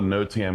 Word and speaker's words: NOTAM: And yes, you are pronouncing it correctly. It's called a NOTAM.